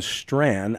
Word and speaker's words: Strachan: guest is dr owen strand i want to spell his last name and i hope i get this right s-t-r-a-c-h-a-n so it's kind of like you drop the c-h when you pronounce it dr owen strand s-t-r-a-c-h-a-n